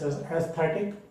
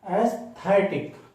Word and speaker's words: aesthetic: In India we pronounce it as aesthetic. In UK also it is pronounced as aesthetic, but in USA we pronounce it as aesthetic.